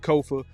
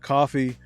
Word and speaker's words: Kofa: I am your host, Kofa, Kofa, not coffee, not, not Kofi, or any variation thereof. Kofa rhymes with sofa.